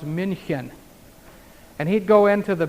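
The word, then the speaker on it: München: the Munich Germany area Munich of course in German is pronounced Minchin and he'd go into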